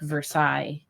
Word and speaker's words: Versailles: For example, the city of Versailles in Indiana, instead of pronouncing it like Versailles, like it should be, because it's French.